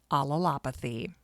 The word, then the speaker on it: allelopathy: Neil pioneered the study of alalopathy and that is a very difficult word to pronounce. So take it slow. Alopathy. Alalopathy.